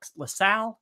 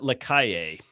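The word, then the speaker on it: Lacalle: Is it LaSalle? Is that how you pronounce his He name? pronounced it Lakaye.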